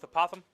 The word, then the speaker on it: apothem: opossums Addams the poems I've heard it pronounced at multiple ways so we're gonna go with apothem like you're saying a possum with a lisp okay so oh that